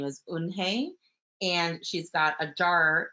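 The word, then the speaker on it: Unhei: "Uni," the kids chanted. "No, no," Unhe corrected. "It's spelled U-N-H-E-I. It's pronounced Unhe."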